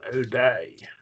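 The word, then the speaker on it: οὐδέ: But Ute is different, and there's a subtle difference.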